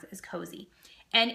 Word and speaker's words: Cozi: So the 3 that I use is Cozy. I think that's how you pronounce it, is Cozy.